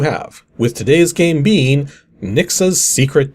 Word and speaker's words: Rnixa: With today's game being Nixa's Secret 2, which yes, the R is silent, and no, there's technically no Nixa's Secret 1.